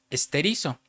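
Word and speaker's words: στηρίζω: 4741 de la concordancia Strong, que es una palabra griega que se pronuncia esterizo.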